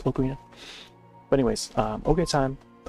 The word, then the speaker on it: Ocarina: how Ocarina of Time Ocarina Okarina, how do you want to pronounce it? Um I I used to just always call it Ocarina, but like I think uh over the years I I've come to try to pronounce it as Okina.